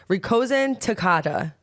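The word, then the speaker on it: Rikuzentakata: did at least try I'm pretty sure it's Rosen Takata Rosen T Tak yes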